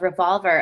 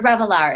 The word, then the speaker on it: Revelar: I was just talking with a woman yesterday, Jacqueline Ross, the founder of Revolver, and it's or Revelar is how you pronounce it.